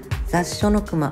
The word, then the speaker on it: 雑餉隈: れるそうです初めて見た方はまず読めない難度地名です雑書の熊と読みます現在駅構内